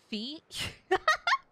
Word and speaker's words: Fi: his name is an ambiguous and Japanese it rhymes with my so it's feet okay so what you're saying is it's pronounced